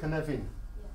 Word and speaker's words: Cynefin: But that's a Welsh word. Canavan. Canavan. Thank you. Oh, great. At last, somebody's told me how to search properly. Canavan.